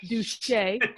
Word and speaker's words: Duché: It's spelt like douche, but it's pronounced Duché. It's French.